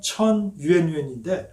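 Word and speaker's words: 陈圆圆: 급습해서 아버지를 어디론가 데려갔고 오삼계가 아끼고 아끼는 미녀인 진원원, 중국 발음으로 하면 천유엔유엔인데 아주 유명한 기생이었습니다.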